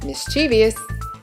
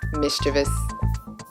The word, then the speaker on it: mischievous: is while the majority of Americans tend to pronounce this word as mischievous you'd be in the minority if you were to renounce it properly as mischievous salmon salmon is a species of fish that